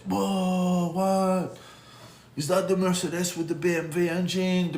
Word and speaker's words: Mercedes: Mercedes-Benz, and so it's not Mercedes. I hear a lot of Americans say, Mercedes? I have a Mercedes? No, it's a Mercedes. Okay? Das ist Deutsch. Okay?